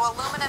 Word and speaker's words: aluminum: or pop um so to say this word correctly in English the key is we are going to have four beats or four syllables it's going to be super short long short short